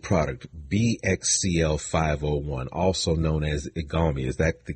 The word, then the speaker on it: Igalmi: better your lead product bxcl501 also known as igami is that the correct pronunciation of the of the trade name yes